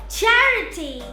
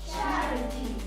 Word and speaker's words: charity: When we come across words ending in ity or ity, we put the stress or place the accent before the syllable. For example, ability, Ability, capacity, capacity, generosity, generosity, sensibility, sensibility, charity, charity, clarity, clarity, trinity, trinity, electricity, electricity, university, university, speciality.